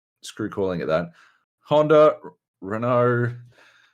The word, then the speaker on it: Renault: calling it that honda renault renault uh i can never remember how to say that it's fresh mercedes renault renault okay the t is silent or the elder silent